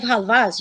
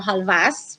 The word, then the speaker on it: halva: there's different types of halvas, you guys. By the way, we can pronounce it halva or halvas with an S.